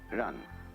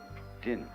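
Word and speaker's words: 仁: In Chinese, there's the word ran. I don't know how it's pronounced in Japanese. I'll write it backwards. How do you pronounce that in Japanese? Jin.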